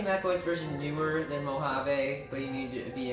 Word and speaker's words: Mojave: released after high sierra that's pronounced like mojave give me such a